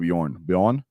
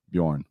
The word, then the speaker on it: Bjorn: Oh, someone said Bjorn in Bjorn, the J is silent. Oh, Bjorn. So Bjorn. Okay, Bjorn, kind of like born, but Bjorn. Bjorn. Okay, cool. Thank you. Thank you, Wapo. So Bjorn, great job for that.